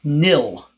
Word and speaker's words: nil: empty list written with square brackets this is pronounced nil it's a name that